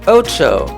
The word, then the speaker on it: Otxo: It's pronounced Otxo, O T X O.